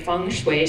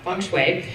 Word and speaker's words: Feng Shui: We have to say it right, Feng Shui. She even spelled it out for me, so I say it the right way, because I would probably screw that up, Feng Shui.